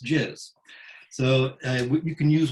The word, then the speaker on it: jizz: jizz you could say jizz gis general impression and size but it's pronounced jizz so uh you can